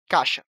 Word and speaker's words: caixa: Vimos, também, que algumas palavras, como a palavra "caixa" acabamos enfraquecendo o "I" na pronúncia e falamos "caxa".